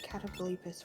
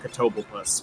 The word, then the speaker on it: Catoblepas: Probably it being mentioned on Pit Crew streams as a funny word and a slight mispronunciation of Catoblepas, which is the actual name of the creature that shows up in a lot of Final Fantasies.